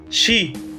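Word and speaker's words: 四: as de number four at least sometimes is pronounced as she which is equivalent to how you pronounced the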